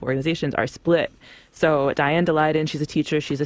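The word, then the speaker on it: Daleiden: So Diane DeLayden, she's a teacher, she's a CTU member, she is endorsed by the CTU.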